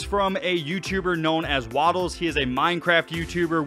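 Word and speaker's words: Wattles: His channel is spelled W-A-T-T-L-E-S, and it's Waddles. It is Waddles on Twitter.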